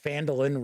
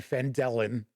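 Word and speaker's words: Phandalin: pronouncing the town correctly I don't want anybody out there crying because I said fandolin rather than fandellen so there are a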